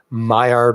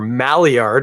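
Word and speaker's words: Maillard: that color uh caramelization mild reaction if you prefer or malliard if you want to pronounce it like a anglophone um works really well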